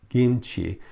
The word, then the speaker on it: kimchi: Kimchi, Americans say kimchi, it's really pronounced kimchi, because they don't have the short I sound either.